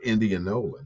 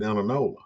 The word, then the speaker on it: Indianola: the Indianola paper and that's how you really pronounce it Indianola that's where it's but we grew up calling it Inola and that's what it really is to me it's still Inola even though I I